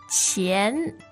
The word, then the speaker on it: 钱: 钱 Yes, second tone.